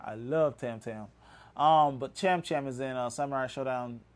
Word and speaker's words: Cham Cham: Cham Cham. That's it. Cham Cham with C-H-C-H. Not Tam Tam.